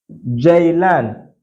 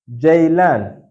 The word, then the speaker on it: Ceylan: This letter is called J. J in Turkish language. It is called J. For instance, we have ceviz, ceviz, ceviz. We have Ceylan, Ceylan. That is how you are going to pronounce this letter. Anywhere you see it, J, ceviz, Ceylan.